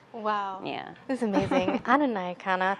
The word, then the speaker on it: Nyakana: Nyakana. Am I saying it wrong? No, you're saying it right. You're saying it right. Nyakana.